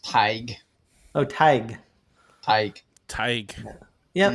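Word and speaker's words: Tadhg: Vincent said Todd again, but no, not correct. This is actually pronounced Tig. Oh, Tig. Tig. Tig. Yep. Mm-hmm. Yep. That makes sense with the D and the H in there.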